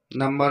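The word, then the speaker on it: know: यू आता है तो वहां ज्यादातर के का उच्चारण नहीं किया जाता है एग्जांपल देखते हैं नाइट यहां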